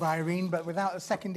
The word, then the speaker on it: Irene: Irene. It's Irene, not irony.